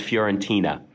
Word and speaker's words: Fiorentina: All right, now our next game, we have Atalanta versus Fiorentina.